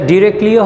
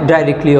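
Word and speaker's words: directly: Most of ইট ডিরেক্টলি, এটা ডিরেক্টলিও হয় ডাইরেক্টলিও হয়, দুইটি উচ্চারণই শুদ্ধ, released in টু the Buriganga, বুড়িগঙ্গার মধ্যে এগুলো সরাসরি পতিত হয়।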